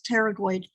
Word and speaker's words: pterygoid: If you say, what cranial nerve controls temporalis, medial lateral pterygoid, and that P is silent, so it's pterygoid, and masseter muscles, it will tell you what cranial nerve is involved.